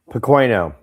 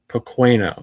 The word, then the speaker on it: Pequeno: Before I mispronounce your name incorrectly, what is your last name? Pequeno. Pequeno.